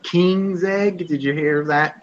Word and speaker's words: Koenigsegg: It's like King's Egg. Did you hear of that company? Koenigsegg, yeah.